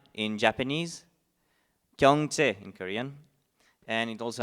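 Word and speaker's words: 경제: It's pronounced 経済 in Japanese, Gyeongche in Korean, and it also has a different pronunciation in Vietnamese.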